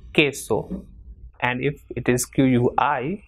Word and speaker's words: queso: For example, queso.